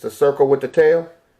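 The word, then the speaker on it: תו: Ta. Okay? That's an X. But it's pronounced with a T. See there?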